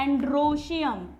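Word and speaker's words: androecium: याद, स्पेलिंग याद कैसे रखेंगे? एंड्रोइशियम. बोलते हैं एंड्रोशियम.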